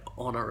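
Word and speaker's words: honour: sign at words like honor and our well where the H is silent you know I think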